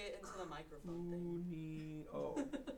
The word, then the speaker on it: Cuneo: how do you spell Cuneo? U, so ku, N, Cuneo. I'll just say it into the microphone thing. Cuneo. It's gonna be like Ueno.